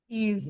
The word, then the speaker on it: is: কি মনে হয় তো ইজ ইজ ইজ যখন লিখবো তখন খাতায় ইজ ইয়েস কিন্তু যখন উচ্চারণ করবো তখন আমি মনে মনে চিন্তা করবো আই জেড তাহলে আই জেড দিয়ে